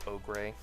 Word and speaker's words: Ogre: I'm sorry, my name is pronounced Ogre.